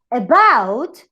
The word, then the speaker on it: about: And in the example of about is the last syllable. So you call it stress in last syllable.